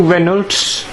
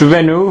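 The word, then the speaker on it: Renault: now we we've got two Reynolds pronounced Reno right next you know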